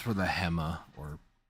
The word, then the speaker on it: Hema: dude it's for the Hemma or I don't think it's pronounced hea I'm pretty sure it's Hema at the dojo it